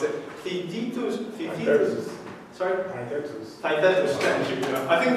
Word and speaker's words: Theaetetus: It's just like, and if you look at Plato's Parmenides or I don't know how to pronounce it, Theaetetus. Sorry? Theaetetus, thank you.